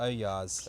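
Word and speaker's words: ollas: They're called Olars or Oyars, if you pronounce correctly.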